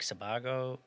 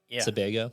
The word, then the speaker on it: Sebago: We stayed at a compound off of is it Lake Sabago? Yep. Sebago. Sebago. Yeah.